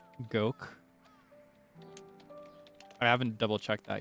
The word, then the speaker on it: Gogh: Some people say Gooff, like Vincent Van Go. Apparently, the correct is actually closer to like Goke.